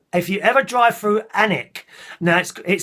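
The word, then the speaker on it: Alnwick: up three points on my license for speeding anak which is spelt a n WIC k and WIC apparently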